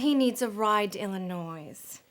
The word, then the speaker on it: Illinois: Well, he needs a ride to Illinois. It's silent. The S is silent.